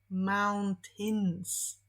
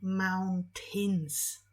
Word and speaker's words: mountains: paints powinniśmy powiedzieć Mountains tutaj błąd polega na tym że widzimy cząstkę a II i myślimy że to jest ej a wychodzi na to że tak nie jest bo bardziej to wpada w takie i czyli Mountains I love Spain Mountains